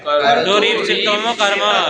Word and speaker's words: कर्तुरीप्सिततमं कर्म: तो चले इसका अधिकार सूत्र ला करके, सूत्र है कौन, कर्तुरीप शीतम कर्म, कर्तुरीप शीततमम कर्म, ऐसे उच्चारण का क्या है, कर्तुरीप शीततमम कर्म।